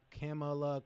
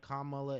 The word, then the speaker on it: Kamala: dog here's the thing nobody cares about how we pronounce like look camela Kamala it don't matter we could talk about